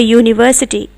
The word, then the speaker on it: university: It is not making the sound of U, oo, it is saying U. It's making a sound of Y. So you say a university.